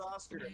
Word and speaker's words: Ratatoskr: it's pronounced Ratatoskr.